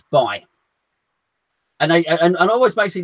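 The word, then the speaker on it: Bailly: I say it's Eric Bailey. I think his name's Eric Bailey, and people kind of go, no, you don't pronounce it like that. It's Bay.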